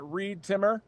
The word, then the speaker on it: Reed Timmer: You can follow me on social media at ReedTimmer rhymes with weed trimmer.